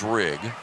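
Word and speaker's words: Rieg: JR's last name, R-I-E-G, pronounced Rigg.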